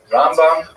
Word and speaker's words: Rambam: Rambam is pronounced with the emp and rambut is pronounced with the emphasis on the second syllable. Rambam and Ramban.